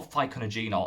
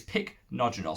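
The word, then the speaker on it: Pycnogenol: is called picnogenol pycnogen i call ficonogeno i always call it but it's not it's picnogenol so i've actually said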